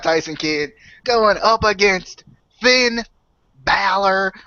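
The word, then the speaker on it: Bálor: Anyway, we got Tyson Kidd going up against Finn Balor with the accent on the A.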